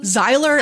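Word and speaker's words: Xyler: the boys names again zyler and CZ Zyer is spelled with an X I love Sy bet it is you can't spell zyler without an X it's like xylophone which is amazing yes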